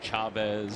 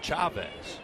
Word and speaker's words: Chavez: Well, if you're going to pronounce it, in Spanish, it's Chavez. But I think he's Chavez, right? Yeah, I think he is. Although for a time I thought he was Chavez.